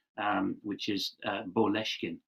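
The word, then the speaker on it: Boleskine: um which is uh boleshkin which sounds exactly like moleskine in english details will go up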